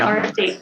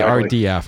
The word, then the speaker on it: RFD: That's it, RFD. I always want to say RDF.